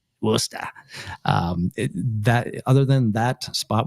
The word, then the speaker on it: Worcester: And if you're in Boston, it's Worcester. Worcester.